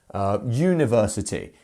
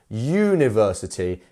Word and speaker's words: university: University. And we have another lengthened sound, which is the ver, which is actually our stressed syllable. University. Not university. It's university. Gotcha.